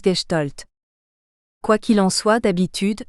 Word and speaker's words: Gestalt: la Gestalt et oui c'est difficile à dire Gestalt quand on ne sa pas que c'est de l'allemand et qu'on prononce gestolt quoi qu'il en soit